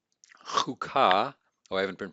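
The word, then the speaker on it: חקה: And then number 6, chukah, chukah. This is a shurek. It's a short U. And we see a Dagesh here.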